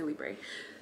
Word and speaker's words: Libre: Libra holiday parfum I I know it's not pronounced librae by the way I think it's pronounced like leave I'm pretty sure it's pronounced like that I can't speak French anywho I'ma say Libre Libre oh de parfum